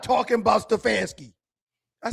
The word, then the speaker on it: Stefanski: Stefanski.